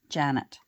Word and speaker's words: Jeanette: And, spelled Jeanette, but pronounced Janet.